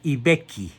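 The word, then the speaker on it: I Becchi: Nace pues el 16 de agosto de 815 en Ibecchi. Se escribe I, que significa el, Vecchio. Se escribe B-E-C-C-H-I, en el reino de Cerdeña.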